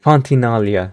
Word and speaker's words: Fontinalia: Fontinalia. So that's how it's pronounced.